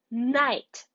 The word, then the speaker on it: night: know it we have day and we have night very nice let's spell it n i GH t night and word